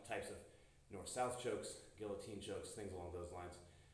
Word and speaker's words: guillotine: your pecs some types of north south chokes Guillotine chokes things along those lines actually do make